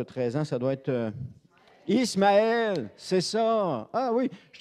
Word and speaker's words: Ismaël: Isaac a été circoncis à l'âge de 8 jours, mais c'est Ismaël, ou comme les Juifs prononcent Ishmaël, qui a été circoncis à l'âge de 13 ans.